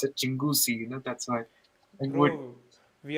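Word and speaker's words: Chinguacousy: all that but it's actually spelled as like pronounced as Chinguzi you know that's why we are still stuck at pronouncing Toronto properly we say Toronto Toronto people call Toronto.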